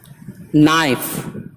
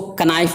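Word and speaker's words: knife: کھٹکھٹانا۔ Need, need गोंदना, नाइफ चाकू, इसको कनाइफ नहीं पढ़ेंगे, एन से पहले के आया है लिहाजा के नहीं पढ़ा जाएगा।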